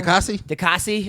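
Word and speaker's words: Diakiese: Dikasi.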